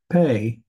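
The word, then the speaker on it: פ: it's going to be p is in Papa or without the dog Ash it's going to be a PA H or f f sound and it also has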